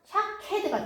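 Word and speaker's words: שקד: 근데 여기 앞에가 점 2개만 찍어서 애를 발음하거든요. 애. 그러니까 모음이에요. 그래서 샤케드가 됩니다.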